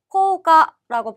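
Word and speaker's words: 効果: 효과는 코가라고 발음을 하고요.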